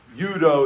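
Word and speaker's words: 유도: We had a Hapkido, we had the Judo, Yudo is how they pronounce it in Korean.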